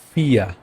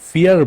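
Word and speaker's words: vier: দেন 4 ফিয়া, ওকে, ফিয়া। এটা আমি ফিয়ার বলি নাই, ফিয়ার লাস্টের অ্যাডটাকে আমরা ইগনোর করে জাস্ট ফিয়া বলবো, ফিয়া।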